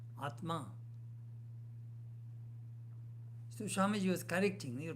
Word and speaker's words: Atma: The Bengalis will say Atta, Atma.